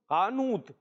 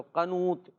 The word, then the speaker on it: قنوت: قانوت۔ ہجے کریں، قانوت۔ ہجے کریں، قاف زبر قا، نون واو پیش نو، تو کیا بنا؟ قنو۔ قانو کیوں ہوگا؟ قنو ہوگا، اور آخر میں تا، تو قنوت۔ تو یہ قنوت ہے، صحیح ہے یہ قنوت؟